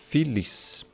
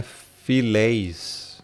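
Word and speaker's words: φιλεῖς: Filis. E não é filéis. Não existe pronúncia filéis aqui. Tá? Porque isso aqui vem de philos, tá?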